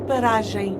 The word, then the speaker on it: paragem: Em que paragem saio? That's paragem. They're definitely not saying M like a hard M. Em que paragem saio?